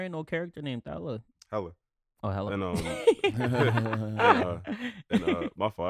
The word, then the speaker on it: Hela: Yeah, because I was looking for Thela in the Thor movie, and there ain't no character named Thela. Hella.